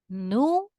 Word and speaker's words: nube: Nube. 2 syllables. Nu is the strongest part of the word, which means that this word is grave.